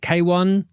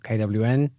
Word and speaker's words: Kwn: K1 is the correct pronunciation, not KWN.